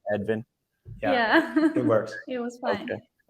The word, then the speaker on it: Edvin: Did my American pronunciation, was that correct of both of your names? Vilma, Edvin?